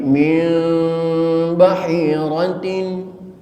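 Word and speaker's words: مِنْ بَحِيرَةٍ: masih banyak yang keliru membaca iqlab itu tidak menekankan kepada huruf ba 100% sehingga timbul mim suara mim 100% mim bukan bukan bukan lihat di dalam kitab Tajwid ada mimnya dan ada ikhfanya maal ikhfai Jadi yang benar bacanya bukan mim Tapi Min bahirtin WBA w w wakinnalladina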